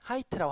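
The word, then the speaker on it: height: 네, 높이는 하이트라고 합니다. 여기 이렇게 선생님이 괄호 치고 안에다가 발음 기호까지 써줬어요.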